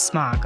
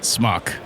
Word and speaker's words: SMOK: smoking he's a cool the guys there said it was smoke I was like okay okay how do you pronounce that because we always pronounce it schmuck yeah smart smack yeah